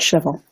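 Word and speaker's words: Shavuot: it's a revelation of I'm gonna mispronounce this showboat shuffle shuffle either way yes okay so can you say it correctly for us please we call it shovel okay what's gonna be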